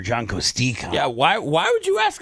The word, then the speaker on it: Kostecka: But I'll ask John and text him, how do you want me to do the E as an E or as an E? John Kostecka or John Kostecka?